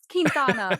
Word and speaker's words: Quintana: It's Spanish, so it's Quintana, but my whole family just says Quintana and it's easier.